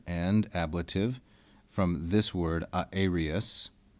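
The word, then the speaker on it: aërius: Aeria is a feminine singular and ablative from this word aerius, spelled like this with a diaeresis to show that this is not a diphthong and derived from the Greek.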